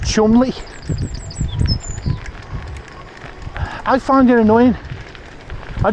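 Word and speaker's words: Cholmondeley: it's spelled CH Mund CH Mund and it's pronounced Chumley I find it annoying I just find it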